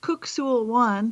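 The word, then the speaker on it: Kuk Sool Won: It's actually pronounced Kuk Sul Wan for anybody who's out there who practices this.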